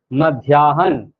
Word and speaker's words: मध्याह्न: मध्याह्न, ये एकदम सही उच्चारण है।